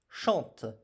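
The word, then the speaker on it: chantent: Vous chantez et enfin il elle chante e n t. Et attention, même chose, nici je ne prononce pas ces deux lettres qui sont muettes. Il chante sans prononcer NT.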